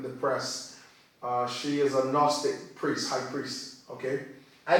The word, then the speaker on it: Gnostic: press, she is a Gnostic priest, high priest, okay? I call it, by the way, I call it gnostic. Okay. I know the G is silent, Right.